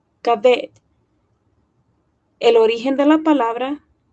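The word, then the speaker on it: כָּבֵד: Entonces, esta palabra en hebreo, la pronunciación es cabet.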